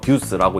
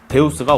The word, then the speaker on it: Deus: 제품은 마차를 4.2초 견뎌냅니다 스펠링으로 deux아서 듀스고 읽는 경우가 있는데 데우스가 올바른 이름입니다 신을 뜻하는 라틴어 Deus 데우스 같은 의미라고 합니다 그럼 지금부터 제품을 한번